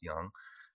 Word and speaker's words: yang: This is the yin and yang symbol, yin and yang symbol if you're from Texas, and but in China it's pronounced yang, and it's about balance.